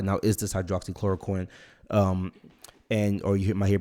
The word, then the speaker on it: hydroxychloroquine: on the news guys everybody's saying the name wrong the drug name is hydroxychloroquine okay so hydroxychloroquine most people